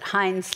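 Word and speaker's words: Heins: US ambassador Sam Hines I assume you pronounce it Hines like the ketchup yes yes so we'll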